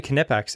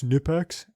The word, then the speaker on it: Knipex: did tool stuff uh there's so many people that said it's nipex and the family that owns that company started wearing shirts that said it's knipex because that's how they pronounce it in that language so it's